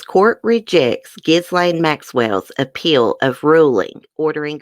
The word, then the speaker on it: Ghislaine: I was like, is that how you pronounce her name, Ghislaine? Ghislaine?